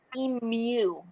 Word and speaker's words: emu: so you guys are pronouncing it and it's pronounced emu yes they will roast you so this is